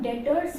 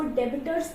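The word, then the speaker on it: debtors: हो गया हमारा डेटर्स इसको हम लोग डेटर्स प्रोनाउंस करेंगे बी जो है वो साइलेंट होगा इसको डेबिटर प्रोनाउंस नहीं करेंगे क्या प्रोनाउंस करेंगे डेटर्स ठीक है तो हमें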